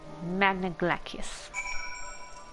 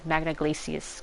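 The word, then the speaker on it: Magna Glacies: and keep you Magna glacius see if I didn't hear pronunciation before that I would have said Magna glacias because I would have thought of glacier I never thought myself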